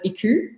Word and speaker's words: iKOU: is a japanese word the japanese would actually pronounce it ikol but for us in australia we call it iku and it means to rest to relax to